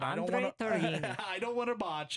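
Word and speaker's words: Tourigny: it was an interesting coach from Coach Andre Torini, as Tara tells me it's pronounced correctly. Yes. As a lot of people botch his name, but Andre I don't want to. Torini.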